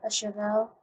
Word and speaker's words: cheval: And alright, this is my Swiss foot, and these are some more chasseurs with even more chasseurs, cheval. That's how that's pronounced, and they also have guns.